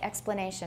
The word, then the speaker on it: explanation: as a full vowel explanation is x a full vowel yes it's not a diphthong this time but it is a full vowel it's not explanation you could say it explanation but it sounds a little odd i usually say explanation i use a full vowel there so we give a